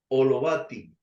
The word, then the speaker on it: Holovatiy: el apellido más bien olovati no sé le pronuncié bien o a la Usted dígame Bienvenida al programa nuestra entrevista y un placer tenerlo Gracias señor Armando García sí lo pronunció muy bien muy bien en ucraniano